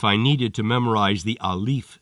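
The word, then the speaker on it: ألف: Outside of front door, pronounced alif or ah. To remember that in Arabic is pronounced ah, I see my doctor forcing a tongue depressor into my mouth and telling me to say ah.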